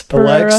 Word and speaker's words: Pereira: Alex Pereira.